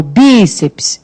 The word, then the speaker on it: bíceps: E de bíceps, qual é a sílaba tônica? O bíceps é o bi.